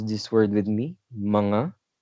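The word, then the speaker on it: mga: how we usually make words plural can you pronounce this word with me manga perfect manga that's how we usually convert words into plural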